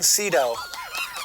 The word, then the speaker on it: Sydow: Max von Sydow. Did it just say Sydow? Sydow. S-E-E, dough.